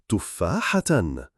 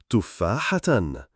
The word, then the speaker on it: تفاحة: The pronunciation of the word apple is written below the rectangle. Tufahatan, tufahatan, tufahatan.